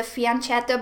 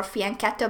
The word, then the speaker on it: fianchetto: We have given up our most beautiful piece, the fianchetto bishop or fianchetto bishop, both pronunciations are fine, I believe, in chess.